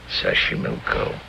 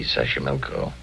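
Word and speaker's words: Xochimilco: be wonderful Mexico City Taxco pbla sash Sashi Sashi milco okay so you pronounce it better than I do it's easy Sashi milco that's where the streets are paved with flowers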